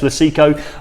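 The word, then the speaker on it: Lucecco: well as our good friends at ideal Industries lucico you sure we've got the pronunciation right yes I have yes lasiko we are tools have supported this event the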